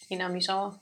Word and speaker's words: Hinamizawa: Welcome to, how do you pronounce that? Hinamizawa? Hinamizawa, yeah.